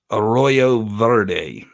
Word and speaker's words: Arroyo Verde: Arroyo Verde.